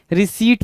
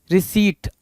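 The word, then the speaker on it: receipt: क्या पढ़ते हैं भाई मेरे रिसीप्ट पढ़ते हैं रिसीप्ट ठीक है इस रिसीप्ट को पढ़ पढ़ते टाइम भी बहुत सारे लोग गलतियां करते हैं। और पहली चीज दूसरी चीज कि इस पे स्पेलिंग में बहुत सारी गलतियां होती हैं। क्या होती है भाई? आर ई सी ई आई पी टी रिसीट आर ई टी ई आई पी टी रिसीट होती है।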